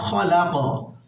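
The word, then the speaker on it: خَلَقَ: কফ এখানে যেহেতু আমরা ওয়াকফ করছি তাই কফের উপরে জজম হবে, আমরা এখানে কলকলা পড়ব, ধাক্কা দিয়ে পড়ব।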